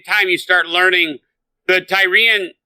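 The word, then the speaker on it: Tyrea: And then in that point in time, you start learning the Tyrian... I think we've been saying it wrong. Tyria is what it's called.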